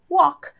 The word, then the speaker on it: walk: forma base if you walk se você anda e esse L aqui é mudo hein então a gente não Walk não sim Walk Walk if you walk se